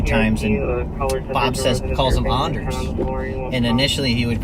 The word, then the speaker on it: Anders: But it's, I think, so in Sweden it's Anders. Mm-hmm. So that's how it's pronounced. And my kids have met Bob a few times, and Bob calls him Anders.